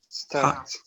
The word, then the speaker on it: stopped: Stopped. Excellent. Stopped. Notice you change the sound. You change to the sound t.